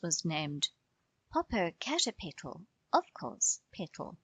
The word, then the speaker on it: Petal: Ruth's was named Popocatepetl, of course, Petal for short, pronounced like petal.